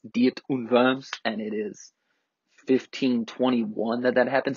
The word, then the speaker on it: Diet of Worms: to confirms which is spelled diet of worms I'm well aware but it's German its deity verbs and it is 1521